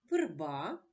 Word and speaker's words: верба: прочитаємо першу пару слів верба верби у першому слові верба звук голосний е не наголошений тому він вимовляється чується наближено до звука и А у слові